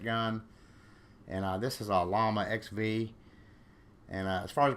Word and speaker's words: Llama: comment on there that in Spanish, two L's together is pronounced like a Y, but I looked up the English translation to it, and it said llama. So that's what I'm going with.